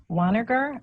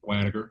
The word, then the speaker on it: Wagner: appreciate the apology and it's actually Banneker I got you thank you I tried again later I always tell people it's it's like manager with a W and a hard G no thanks thank you